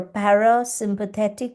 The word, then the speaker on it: parasympathetic: So it actually what happens is it activates your parasympathetic nervous system. Now as a result when the par this is a tricky word girls I want you to practice para break it up in syllables parasympathetic parasympathetic nervous system.